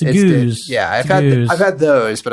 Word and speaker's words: gose: A geuze, pronounced geuze, is a historically German refreshing wheat beer that is only slightly tart.